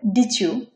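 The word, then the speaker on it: did you: তো এই দুটো মিলে হচ্ছে চ উচ্চারিত হবে, তাহলে কি হচ্ছে হবে ডিচিউ, ডিচিউ। পরেরটা নিয়েছে ওন্ট ইউ, এটা হচ্ছে হবে ওনচিউ, ওনচিউ, ওনচিউ, ওনচিউ। পরেরটা উচ্চারণ হবে উড ইউ, এটা উচ্চারণ হবে উজিউ, উজিউ, উজিউ।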